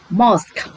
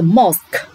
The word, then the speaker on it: mosque: Mosque. Ở đây cô chú ý bạn cách phát âm với từ mosque. Nào, thánh đường Hồi giáo. Mosque. Phát âm cuối âm ca k.